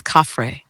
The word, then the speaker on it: Khafre: The name is Khafre, properly rendered as open quote, Khafre, with the first syllable resonant in the upper throat and the second light almost like breath.